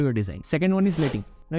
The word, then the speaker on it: leading: Second one is letting. Now, if you read it, it seems like leading, but in typography, it is spelled as letting.